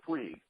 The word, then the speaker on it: Puig: So I commend them on that, and I think I'll never learn how to pronounce his name. Puig? Oh, Yasiel Puig.